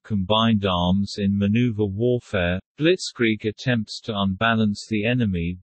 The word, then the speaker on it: Blitzkrieg: Blitzkrieg, German pronunciation, Blitzkrieg, listen, from Blitz, lightning, plus Krieg, war, is